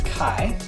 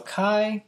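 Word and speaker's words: καί: So write the Greek word for and, which is kai.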